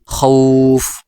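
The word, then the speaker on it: خوف: তখন এক আলিফ টেনে পড়তে হবে যেমন আমি উচ্চারণ করে শোনাচ্ছি খ ওয়াও জবর খও ফা দুই পেশ ফুন খউফুন ওয়াকফ করলে খউফ এইভাবে ওয়াকফ করলে খউফ এভাবে পড়তে হবে এর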